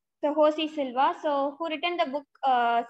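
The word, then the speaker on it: José Silva: In Russia, J is H. So he's Russian. So he's called as, although the name is starting with J, we are supposed to pronounce as Josie. So Josie Silva, so who written the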